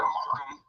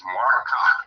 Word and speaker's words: Marka: I want a slight correction to whoever was taught or calling Marka's name instead of Malcolm. And I hear people call him Michael. It's Marka. Now, there we go. There's Thank people you. to pronounce it like that. You know, two of them, they are in a beef. We all know around the entire world that his name is Marka.